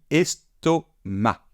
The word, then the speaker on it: estomac: On ne prononce pas le C final et on dit estomac. Estomac.